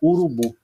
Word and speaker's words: urubu: Urubu, a sílaba tônica é o bu, então eu circulo a sílaba tônica. A sílaba tônica é a última, olha aqui, ó.